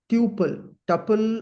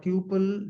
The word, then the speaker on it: tuple: We call them as tuple, or tuple. Generally, people pronounce this. Triple. Yeah. Yes. Tuple or tuple. So depending on our accent and comfort, we can call Yes. both.